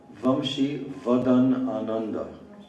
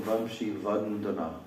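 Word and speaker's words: Vamshivadanananda: Let me just correct the pronunciation of his name. His name is Vamshi Vadan Ananda. Yes. You're saying Vamshi Vadandana.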